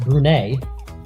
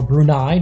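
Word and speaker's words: Brunei: and now Afghanistan against brune or brunai depending on how you want to pronounce it but here on Marvel pubo we're going to pronounce it brune they're in the yellow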